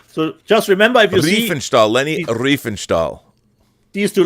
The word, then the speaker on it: Leni Riefenstahl: Yeah, people were roasting me saying I've been saying her name, so it's Leni Riefenstahl. Exactly, Rob. Exactly. Yeah, but should I really know how to pronounce a Nazi propagandist's name?